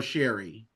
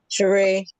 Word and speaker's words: Sheree: uh uh Shere Sheree is your name pronounced Sheree or Sherry Sheree Sheree okay thank you so